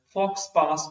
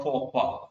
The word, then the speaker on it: faux pas: You can pronounce it as fox pass or faux pas. So both pronunciations are possible.